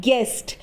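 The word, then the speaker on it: guest: you silent रहता है जैसे जी यू आई एस टी इसे हम क्या बोलते हैं गेस्ट तो गेस्ट में यू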